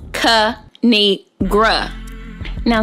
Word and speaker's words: Kinigradeon: me tell y'all the thing a three it's pronounced cu need gra now subscribe oh i cracked myself up thanks for